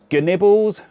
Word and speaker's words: GNibbles: GNibbles - with the hard G - making an appearance again.